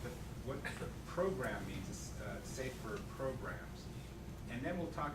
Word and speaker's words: SAFe: a scaled agile framework it used to be just saf but then they wanted to pronounce it so they put a little e at the end so you can call it safe but uh that so